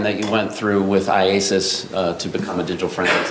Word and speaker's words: IACIS: IASIS, yes. Can we call it ISIS? Yes. How do you say it? IASIS.